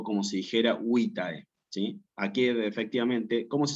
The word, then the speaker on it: vitae: Vitae.